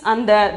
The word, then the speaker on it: अंदर: 12th one is andar. In the, see here the in is half. Then only you have to pronounce it as consonant sound. Then andar. The pronunciation is andar.